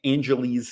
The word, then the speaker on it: Angeles: navy base in uh angela's angeles city that's how people pronounce it i've always heard in